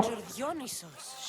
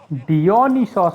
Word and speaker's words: Dionysos: Dionysos, shall we? डियोनिसोस ऐसे pronounce करते हैं उसे? मैं डायोनिसिस बोलता है हमेशा उसको. This is pure swill.